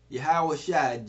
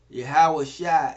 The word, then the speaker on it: Yahusha: Again, Yahawashi, Jesus, is a Hebrew Israelite of the seed of Abraham. Yahawashi is the Hebrew pronunciation of his name, and we're going to get into it a little bit.